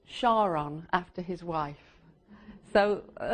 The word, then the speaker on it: Charon: So he wanted to call the moon Karon, but it must be pronounced Shaon after his wife.